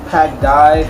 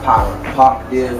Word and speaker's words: Pac Div: Pac Dive or Pac Div. Pac Div, like Tupac Div.